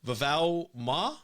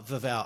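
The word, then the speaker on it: Vavaʻu: Uh we're also going to be talking about a project that you have, Vava Ma. Is that how you pronounce it? Uh Vavva.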